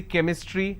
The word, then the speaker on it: chemistry: sound for example change but when i have the word chemistry ch becomes cursed sound so i say chemistry i say chrome so